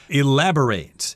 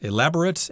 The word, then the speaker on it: elaborate: and things like that the verb form of this is pronounced slightly differently elaborate elaborate and elaborate that means to give someone